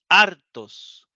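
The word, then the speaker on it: ἄρτος: todos son sustantivos y están acentuados en la penúltima sílaba veamos las sílabas ar tos la última es tos y ar es la penúltima la última es os Y la penúltima es ar artos como ahí va el acento se lee artos si la si el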